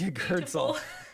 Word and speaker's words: Yggdrasil: So there's a real gap there between vowels. Yeah. Yeah. It is literally like being strangled.